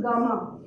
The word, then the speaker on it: gamma: So the path of attachment to sensual pleasures has been, there's a term that Buddha uses for it, which is pronounced as gamma, G-A-M-M-A.